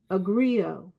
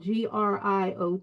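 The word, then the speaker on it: griot: Soul because I think of myself as um agrio and that's spelled g r i o t and also g r i o I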